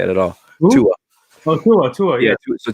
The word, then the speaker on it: Tua: that's not how you say it at all Tua oh Tua Tua yeah so Tua is making